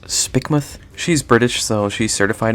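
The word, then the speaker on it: Spikemuth: to point out that my girlfriend is telling me Spike myth is pronounced spikmoth she's British so she's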